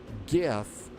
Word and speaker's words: GIF: Irvy says that both pronunciations are widely accepted, but major dictionaries and everyday speakers re recognize GIF with a hard G like gift. So it's not like the peanut butter.